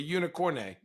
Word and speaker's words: unicorne: If I'm the NBA and I have that unicorn of the new unicorn, the French unicorn, the unicorne, right? That's how you say it in French.